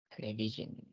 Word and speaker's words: television: Television. Hi. Thì là đọc là television.